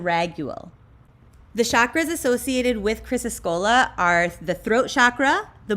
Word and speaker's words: Chrysocolla: I bet you're wondering how to pronounce this stone's name. Chrysocolla. Chrysocolla is one of these stones that we do not want to put in elixirs.